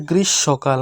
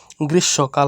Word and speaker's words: গ্রীষ্মকাল: না এটার উচ্চারণটা হবে গ্রীষ্মকাল হ্যাঁ এখানে মূর্ধন্য স আর মূর্ধন্য স আর ম রয়েছে দুটো মিলে উচ্চারণটা হবে গ্রীষ্মকাল ম এর উচ্চারণটা হবে না গ্রীসবকাল হবে এটা গ্রীসবকাল জ্যেষ্ঠ